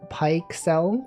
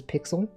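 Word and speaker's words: Pyxel: Python instead it's called pyel pyx L apparently just pronounced as pixel um it's Python and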